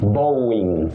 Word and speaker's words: Boeing: Now, the last one is about that aerospace company in America, and you say Boeing, Mhm.